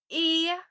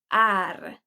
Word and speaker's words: är: The first one has to do with the word är. So usually when it's pronounced in a sentence, it's pronounced as e. E. Instead of saying jag är trött, you would say jag är trött.